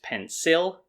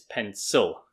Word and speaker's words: pencil: you learn pencil and you might have been saying that it's pencil but the pronunciation is pencil and again like i said this is all native speakers americans british australians everyone pencil so it's um do